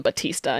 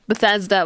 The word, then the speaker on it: Bethesda: I love you know I call them Batista even though that's not how you pronounce it Bethesda whatever I love Bethesda